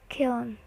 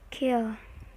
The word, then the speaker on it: kiln: Word kiln, often said kiln, should be kill.